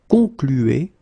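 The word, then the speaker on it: concluent: Keep in mind that even if you put this final ent, so the ending, you don't pronounce it. So phonetically, you get conclu, conclu, okay?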